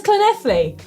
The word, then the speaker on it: Llanelli: That says Llanelli.